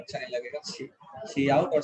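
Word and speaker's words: cout: इसको काउट या सी आउट ही पढ़ेंगे, काउट ना ही पढ़े वो ज्यादा सही है, सी आउट ज्यादा अच्छा लगता है, ठीक है।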